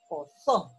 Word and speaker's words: posó: Ahí la palabra aguda es posó, porque termina en vocal o y la sílaba tónica es so, posó.